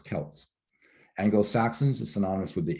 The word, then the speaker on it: Celts: apart these various tribes celts by the way celts is what we pronounce that the scots and the irish are celts notice the basketball team